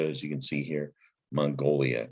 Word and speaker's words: Mongolia: Similar to magnolia, starts with the syllable mong. The N comes before the G, right? Mong, there's gal or goal. Leah, yeah, this is Mongolia.